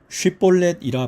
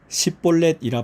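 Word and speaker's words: 쉽볼렛: 그에게 이르기를 쉿볼렛이라 발음하라 하여 에브라임 사람이 그렇게 바로 말하지 못하고 십볼렛이라 발음하면 길르앗 사람이 곧 그를 잡아서 요단강 나루턱에서 죽였더라.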